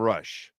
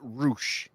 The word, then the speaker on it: Rush: That is one of the great bands of all time, Rush. What? I love how you pronounce it, but it's Roosh. Well, I don't know if that changes anything, but it's not Rush, it's Roosh.